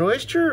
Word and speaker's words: Oster: local honey smucker's natural is it oyster roaster i'm gonna say oster because it rhymes with toaster by oyster is everything